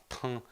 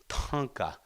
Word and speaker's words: Tonka: You'll notice I'm not saying uh Tona or Ta Tonka Tonka. There's a CA sound. Tonka. So something that's big big.